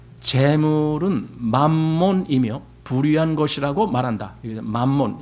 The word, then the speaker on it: 맘몬: 만원이며 부유한 것이라고 말한다이 맘몬 이건 사실 마몬 영어식 발음이 마몬 매몬 그리죠 영어식 발음 은 몬데 우리는 그냥 만 이렇게 읽죠 이게 이제 아람어로 재물이라는